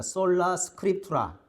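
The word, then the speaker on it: Sola Scriptura: 자, 이거 한번 다 발음 한번 해 봅시다. 솔라 스크립투라.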